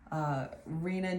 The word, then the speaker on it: Reina: know how to say it so anyway I'm Rena welcome to my channel I'm gonna do